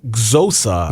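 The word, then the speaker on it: Xhosa: true Nelson Mandela's pool fluent zosa there you go that's how you would pronounce it yeah I don't know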